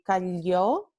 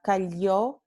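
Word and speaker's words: calló: Esta primera palabra, cayó, significa he or she remained quiet, or he or she shut up, ¿no? Y se pronunciaría y se pronuncia con este fonema aquí, ya, cayó.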